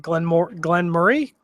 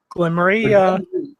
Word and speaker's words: Glen Moray: So what are you guys getting out of the Glen Murray? Glen Moray. It's Glen Murray. Don't listen to him. Glen Moray.